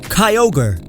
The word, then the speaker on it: Kyogre: Kyogre, Ogre. Kyo is ocean in Japanese, and you know what an ogre is.